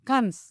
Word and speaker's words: Cannes: Jadi dia itu pertamanya menang di Cannes ya. Cannes. Bacanya apa sih, Nda? Kans.